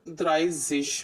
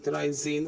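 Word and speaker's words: dreizehn: द्राई देखिए ऊपर द्राई है ना, ये द्राई है तो द्राइजिश हो जाएगा, सॉरी द्राइजेन हो जाएगा.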